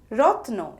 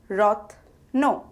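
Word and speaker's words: রত্ন: means gem or jewel rotno is pronounced as rotno rotno is spelled as ra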